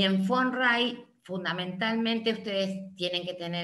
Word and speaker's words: von Wright: En los textos dice von Bright, pero si dice von Bright. Von Wright. Von Wright se pronuncia con Se F dice- de corta.